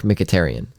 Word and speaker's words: Mkhitaryan: a blur together it sounds better but Henrik mkhitaryan ah well that doesn't sound anything like I